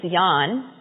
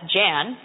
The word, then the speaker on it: Jan: he was a kid his real name was Yan but when he came to this country they looked at Jan and they said well we know how to pronounce that that's Jen so everybody calls him